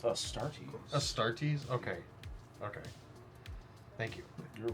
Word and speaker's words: Astartes: Yeah, pronounced Astartes. Astartes? Okay. Thank you. You're welcome. Fancy it up however you want. Studies. It's Astartes.